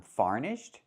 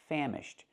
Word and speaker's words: famished: So again, the word is pronounced famished, using the short ah like ham and ma'am.